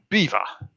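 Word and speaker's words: Belvoir: having the upper hand how that is actually pronounced is beaver beaver castle we live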